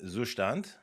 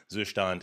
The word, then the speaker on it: Zustand: It's a German word. You should say it like in German. Okay. So let's do yarn add Zustand. I like how it's just one thing, it's not like Zustand and then Zustand React or whatever.